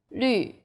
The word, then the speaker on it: 绿: The U sound is like the French U. Your lips should be round and pouting. 绿, 女.